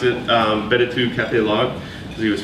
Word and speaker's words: b2: platform called B2 Cafe log or how he pronounced it um betu Cafe log cuz he was French um which